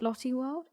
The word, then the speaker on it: Lotte World: Lotte World?